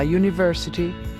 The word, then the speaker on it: university: Por exemplo, an hour, porque o A é mudo, mas a university, porque o U tem som de U.